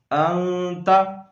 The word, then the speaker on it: انت: الذَّنبِ الَّذِي لا اعلم انکا۔ اگلے لفظ کی ہجے کریں گے انت، حمزہ نون زبر ان، تا زبر تا، انت۔